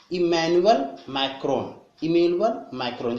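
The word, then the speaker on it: Emmanuel Macron: इमैनुअल मैक्रोन। जैसे किसी चीज का मैनुअल होता है ना, अब मैक्रोनी का मैनुअल, ये समझ लो, ऐसे याद करो, जल्दी याद होगा।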